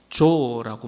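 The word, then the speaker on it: ζωή: 여기 산 제물이라고 했는데 이 산이라는 단어가 헬라어로 조라고 말하거든요, 발음이.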